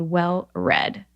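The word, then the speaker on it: Well Read: you're at Trader Joe's, this company is called, the company or the bottle I buy is called Well Red. And it's spelled like READ.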